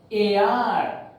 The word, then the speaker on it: heir: AR, HEIR, not AR, AR. So an AR, an honorable judge.